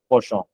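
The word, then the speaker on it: penchant: শুনে নেন এটা কিন্তু পেঞ্জে না এটা কিন্তু হচ্ছে পোষ এরকম হচ্ছে সো মূলত এটা ফ্রেঞ্চ থেকে আসছে সেজন্য হচ্ছে একটু মানে আলবিলা উচ্চারণ আর কি তো পোষ তো পোষ মানে এই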